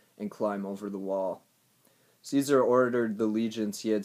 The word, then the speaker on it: Caesar: I always spell Caesar with an E at the beginning. It starts with an A. Like it's like the A is silent. Kaiser, Caesar.